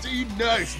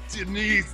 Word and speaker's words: D-Nice: It's pronounced D-Nice! Yes! Just D-Nice, not Denise, damn it!